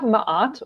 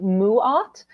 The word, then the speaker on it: Ma'at: So here we have Ma'at, or apparently Ra said it's supposed to be pronounced Mu'at. So take it as either as you prefer, because I've heard it as both.